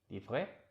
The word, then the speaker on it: livret: See, we have booklet and livret. I believe in this case the final T is not pronounced.